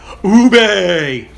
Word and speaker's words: ube: how is that pronounced think of um think of a ghost speaking pig latin ube um so that's ube is how it's pronounced and it is made